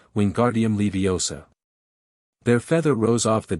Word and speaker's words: Wingardium Leviosa: "Wingardium Leviosa!" he shouted, waving his arms like a windmill. "You're saying it wrong," Harry heard Hermione snap. "It's Wingardium Leviosa. Make the 'gar' nice and long."